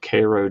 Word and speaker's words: Cairo: of my life in a town called Koo Georgia which is spelled like Cairo and my high school